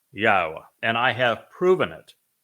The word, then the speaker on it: Yahowah: told you emphatically that God has but one name and it is pronounced yaha and I have proven